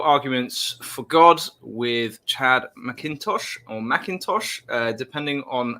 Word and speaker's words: McIntosh: How would you pronounce it? McIntosh? McIntosh. Just the A is not there, yeah.